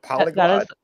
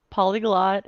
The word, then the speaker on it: polyglot: is that what though is that the proper word for it polygon polyglot is the english termination for knowing more than one language yes interesting okay yes it's spelled p-o-l-y-g-l-o-t yeah so i know